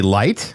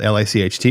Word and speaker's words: Licht: I thought it was going to be Light, because a lot of times when that name is spelled L-I-C-H-T, it's pronounced Light, but it's Licht.